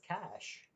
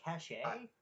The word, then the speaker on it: cache: Is that how you pronounce it? I thought it was cash. Like No. CAC. They're really cachet?